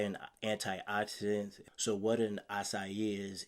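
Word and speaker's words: açaí: a no it's not a Ikey it's not a I side it's an acai bow all right it's a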